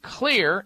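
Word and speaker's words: Xlear: You can find the Clear, and Clear is spelled with an X. The X stands for that xylitol ingredient, one of the ingredients in it, Clear Max nasal spray for allergy response and symptoms.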